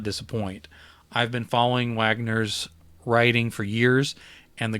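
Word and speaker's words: Waggoner: dark by tim wagner i always try to say his name wagoneer but when he pronounces he says wagner and i have to remember that i'm saying it wrong the moment i heard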